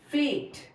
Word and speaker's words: fate: This is फैट, a, fat, fate. E is silent.